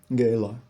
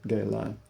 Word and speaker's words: gala: Gayla, I have been invited this evening to Gala, pronounced the same way their miners do. Gayla, an aid of the Houston Society for the Performing Arts.